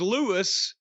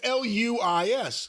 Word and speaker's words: Luis: First it was Louis. Well, it's Luis. Luis.